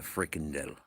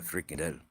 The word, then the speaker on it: frikandel: Grizzles got given a Dutch sausage, a frikandel. Uh, I know that's how it's said, frikandel, but I'm not sure if that's the right pronunciation. You got to say it with a Dutch accent, yeah.